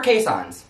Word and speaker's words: Keeshond: talk about keyshots or caissons or case hunts technically caisson's the most proper way how to say it but it's spelled keyshawn so when we talk